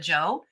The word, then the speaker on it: Jeaux: sipping on a strong cup of joe and i spell it j-e-a-u-x because it's an o to my mama and yes it's celebrating